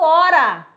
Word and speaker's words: hora: O H não conta porque ele não tem som.